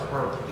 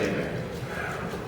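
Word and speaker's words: Hebert: Abear. Abear. Yeah. See, he's Cajun like me. So I know how to say his name. So it's Herbert. No, it's Abear.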